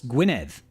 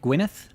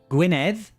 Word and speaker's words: Gwynedd: How would I pronounce Gwynedd? Would it be like Gwyneth? No, not quite, Andrew. Similar, very similar.